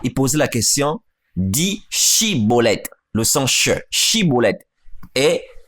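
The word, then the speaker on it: Schibboleth: Voyez-vous, il n'arrivait pas à dire Shibolet, il disait Sibolet, car il ne pouvait pas bien prononcer.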